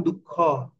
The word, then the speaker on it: দুঃখ: ঠিক আছে, যেমন দুঃখ, দু দু হ অর্ধেক উচ্চারণ হয়েছে।